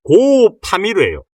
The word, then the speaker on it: 고파미르: 고파미르 이렇게 우리가 보통 발음을 하잖아요. 근데 이거를 띄어서 읽으면 고파미르예요.